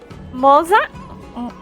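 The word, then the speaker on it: Moze: Moza? The Z is the sound of pizza with an ah sound.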